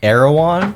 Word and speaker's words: Erewhon: I have been told and heard that it's Erewhon. Okay. Erewhon seems like maybe if you had like a southern twang to it. Yeah, I went to Erwan. Erewhon in the club.